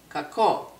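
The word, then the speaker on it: κακό: Kalo, kako.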